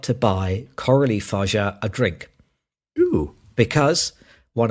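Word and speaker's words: Coralie Fargeat: Now, as always, I'm going to get you to provide me with the pronunciation. I think Coralie Farjat. You think that's right? I think so. I would say Coralie Farjat.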